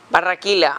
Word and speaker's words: Barranquilla: Born in how do you pronounce it? Barranquilla.